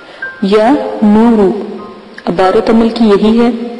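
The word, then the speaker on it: یا نورُ: تو آپ لفظ کے ہجے سن لیں۔ یا زبر یا، نون پیش و نو، را پیش رو، یا نورو۔ عبارت عمل کی یہی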